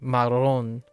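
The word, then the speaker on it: marrón: Well, I'll have to think about like marron. Marron is okay because the accent is on the ron.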